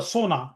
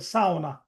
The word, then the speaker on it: sauna: It's a Finnish word. Sona is not an English word just to give you example and it's it's not a sona. It's a sa that's a correct pronunciation.